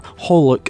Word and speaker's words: xxxHOLiC: translation of the title xxxholic or holic as it's apparently more commonly known and pronounced would probably be something